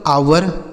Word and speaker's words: hour: तो HOUR इसे पढ़ेंगे दोस्तों आवर। ठीक है, और यह OUR इसको भी आवर पढ़ा जाता है। दोनों का स्पेलिंग अलग है, लेकिन पढ़ा एक ही जैसा जा रहा है।